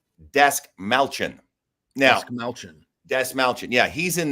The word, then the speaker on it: Dastmalchian: David, I have to pronounce this right. Dastmalchian.